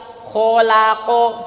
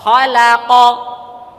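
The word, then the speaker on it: خلق: bacanya khaqo nah kira-kira baca khalaqo gimana baca khalaqo maju mundur enggak bibirnya kholaqo ya enggak harusnya apa ini fathah semua khalaqo dan lain-lain ini kembali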